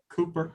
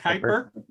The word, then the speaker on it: Kuiper: star using the NASDAQ Cooper kick I could never pronounce that name Airborne Observatory is that Kuiper the U is pronounced as an a yeah um they were